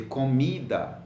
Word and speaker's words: comida: another other examples here do you say comida comida or comida you say comida why you say come me that so you have three syllables come me da so you stress the second-last da me so you stress on me so come meet that write the word pipoca